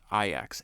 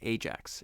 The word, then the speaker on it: Ajax: I got to remember it's IX. Every It's spelled Ajax phonetically. So everything in me wants to just keep repeating this word as Ajax. It's IX.